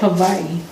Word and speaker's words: Hawaii: what is that actually they do pronounce it a different way than we do what is it it's with a V really how do you say it Havi oh Gosha I heard